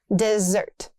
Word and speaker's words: dessert: Desert, not desert. Double s means stress. Dessert.